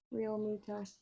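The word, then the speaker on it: Realmuto: Real Muto.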